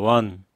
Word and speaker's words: want: 원하다의 want는 그냥 원이라고 하면 됩니다. 한국어로 원. I want you 하면 되죠.